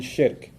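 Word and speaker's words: shirk: Muslim from his faith perspective nothing worse than shik s h i r k sounds like Shrek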